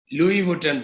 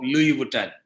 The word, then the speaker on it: Louis Vuitton: was i decided to estimate mastic value of louis vuitton brand in japan and france i used to